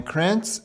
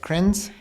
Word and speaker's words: Krenz: Cringe. Yes, you can do it with the TZ sound or you can do it with just the Z sound.